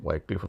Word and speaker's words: Wycliffe: Ada Vulgate, ya, ada Masoretic Text, ada Wycliffe, ya, Wycliffe atau Wycliffe bacanya.